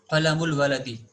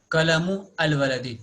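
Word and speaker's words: قَلَمُ الْوَلَدِ: So the combination becomes qalamul waladi and not qalamu al waladi. This is wrong to say qalamu al waladi. We have to say qalamul waladi. While pronunciation, hamzatul wasl is dropped.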